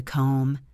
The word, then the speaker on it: comb: Common examples include the K in knife and knee, the B in comb and thumb, the W in right and wrong, and the L in walk and talk.